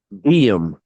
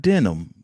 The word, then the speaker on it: Diem: How do you properly pronounce his first name? Just to make sure I've got it right. DM. DM. Not Denim, but not Denim.